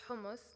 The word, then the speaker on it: hummus: in everything and that hummus is pronounced as homus not hummus by the way you